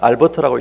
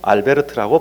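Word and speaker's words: Albert: 독일 사람이니까 알버트라고 읽지 말고 알베르트라고 발음을 해 줘야 됩니다.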